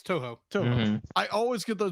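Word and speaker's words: Toho: too I say it right too yeah it's too too I always get those mixed up the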